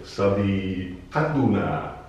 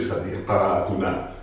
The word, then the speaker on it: صديقتنا: Attenzione, Sadiqatuna. Bene, l'accento sta qua, ma la A deve essere breve. Non posso dire Sadiqatuna, che significa un'altra cosa. Se l'amica di voi due, diventa Sadiqatukuma.